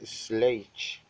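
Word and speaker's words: Schleich: Se pronuncia Sledge.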